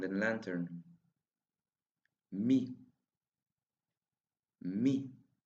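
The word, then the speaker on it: μι: Me. Me. The sound of me is the same as the M sound in music.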